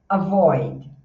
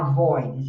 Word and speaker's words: avoid: Avoid, olha só, tá vendo o chuá de novo? Então você não faz a a void, você faz avoid, é só um suspirinho.